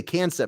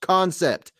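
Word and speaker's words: Kansept: gray wolf can't con i always want to say cancer but it's pronounced concept they even say it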